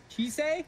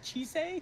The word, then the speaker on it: Chisei: So yeah, I was going to draw Elias putting salting Chisei? Yes. That's how you pronounce it? Chisei? Yes. Not chis? No. Chice? No.